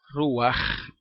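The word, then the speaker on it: רוח: el final también ru ruaj que significa espíritu o también significa viento verdad la palabra ru termina con esa letra Je y se pronuncia de esa manera aunque no quieren no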